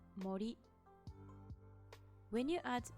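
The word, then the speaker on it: 森: You can read it as mori.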